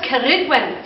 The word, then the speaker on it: Ceridwen: This hag or witch, her name was Ceridwen. Say that, Ceridwen. And yeah, nice, roll your R's, it's so fun.